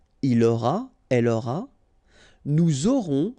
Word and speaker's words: nous aurons: J'aurai, tu auras, final S not pronounced, il aura, elle aura, nous aurons, final S not pronounced, and then you make